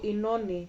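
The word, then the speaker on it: Oenone: That's how Inoni is written in Greek. Like Inoni in English is written like O-E-N-O-N-E, right? In Greek it's written O-I-N, Omega, so that's a big O, N, and Eta, which is the equivalent of our H, I would say, the English H, but it's pronounced E, so it's E, no, ni.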